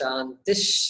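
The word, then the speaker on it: शान्तिः: So, but pronunciation is Shantish, Shantish, Shantihi. Only one way to pronounce it, not 2 ways to pronounce.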